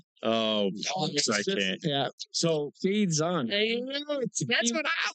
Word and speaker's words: Shaidzon: So Shaidzon. That's what I like. it's right there. Don't you know what the second vowel does to the first vowel?